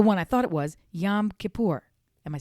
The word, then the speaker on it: Yom Kippur: So it got to be the one I thought it was, Yom Kippur.